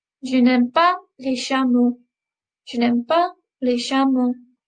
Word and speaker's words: chameaux: Je n'aime pas les chameaux. Je n'aime pas les chameaux. But if you notice, un chameau, les chameaux, it doesn't change the end sound of the word.